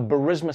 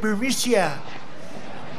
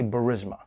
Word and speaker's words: Burisma: I mean, Trump himself can't even pronounce it. 8 months after his alleged meeting with the Burmese executives, So this Burmesia, they say, pronounce it Burmesia.